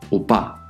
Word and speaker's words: 오빠: So in front of the "O" we will put a consonant that is mute, but that serves to maintain this rule.